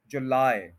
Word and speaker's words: July: जुलाई, तो लाई नहीं बोलना, क्योंकि एंड पे आई साउंड नहीं है, आए साउंड है, आए। जुलाई, जुलाई, जुलाई। 2 सिलेबल्स हैं और सेकंड पे स्ट्रेस है।